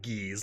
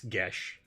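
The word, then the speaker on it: geas: do they get that i'm pretty sure it's gaelic or irish in nature and so it doesn't look like it's pronounced the word we're talking about for everyone in james g-e-a-s looks like ghees like peas peas and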